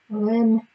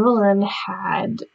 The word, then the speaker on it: Boleyn: Boylan, I just mispronounced that. And this is about, like, what if Anne Boleyn actually had a son,